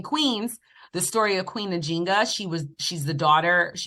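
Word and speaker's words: Njinga: her name right yes Queen najinga like najinga or ninga I think I feel like that J's kind of Silent it's not like a hard J but I've been I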